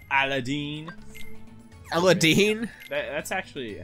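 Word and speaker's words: Aladdin: trying to switch right now all right Aladin Ella Dean that's actually how it's pronounced really Aladin really yeah Wow ah I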